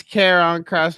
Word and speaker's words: Karrion Kross: It's Karrion Kross, but I think they call it Killer Cross.